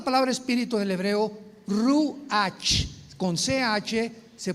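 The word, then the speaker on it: רוח: Por eso el Espíritu Santo se pronuncia Ruach, se escribe Ruach, C-H, Ruach el Kadosh.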